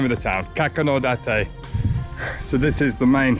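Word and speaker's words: Kakunodate: It's pronounced Kakonodate. Kakonodate. That's the name of the town. Kakonodate.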